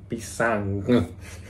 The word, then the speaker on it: pisang: pisang pisang pisang pisang orang bule itu agak susah teman-teman kalau mereka itu bilang huruf N habis n g Jadi huruf n g kalau kita itu kan bilangnya ng Tapi kalau buat orang gila itu susah temen-temen kalau buat ngomong gitu jadi pisang Aku ada